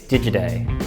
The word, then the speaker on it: Digiday: It's Digiday, like digital.